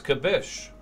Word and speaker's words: Kibbish: for the cheer cabish is it pronounced kabish or khibish or kabish what is it cabish number one two or three cabish kibish kabish it's kibbish okay is it kibbish